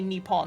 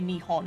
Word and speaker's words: Nihon: the p is um the more patriotic way of saying it like the um the uh nationalist patriotic um apparently so modern day most people would not say nippon they'd say nihon instead so that that was